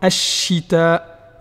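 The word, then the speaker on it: الشتاء: Par exemple, ash-shita. On doit bien prononcer le shin qui est doublé en supprimant le lam.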